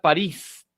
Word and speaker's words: París: La palabra París, la palabra función y la palabra tic-tacs son agudas, ¿de acuerdo?